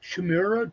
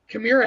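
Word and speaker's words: Chimaira: first came out and everybody how to pronounce their name either it was like chimura chamaria like and literally it was my idea to put kamira had this little phonetic spelling as part of their logo on the first record and that was my idea I'm like let's take and put a phonetic spelling so people know how to pronounce the band and it works right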